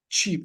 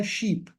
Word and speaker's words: cheap: أيوة cheap. أنت Yeah. حكيتها sheep.